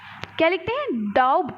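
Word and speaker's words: doubt: हैं depth date लेकिन बोलते क्या है डाउट तू लिखने हैं दी ओ यू बी टी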